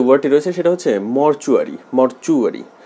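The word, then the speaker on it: mortuary: 3 নম্বরে যে ওয়ার্ডটি রয়েছে সেটা হচ্ছে মরচুয়ারি। মরচুয়ারি, এটাকে অনেকে মর্টিউয়ারি বলে, এটা সঠিক উচ্চারণ মরচুয়ারি।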